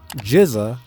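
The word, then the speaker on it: GZA: Jiza, and yes, that's how it's pronounced, is known as the genius and oldest member of the group.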